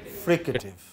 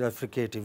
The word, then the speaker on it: fricative: what is it called fricative not fricative many of us in india pronounce it refrigerative it is not fricative